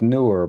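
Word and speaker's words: Neewer: It's pronounced newer, but it's spelled newer, which is weird.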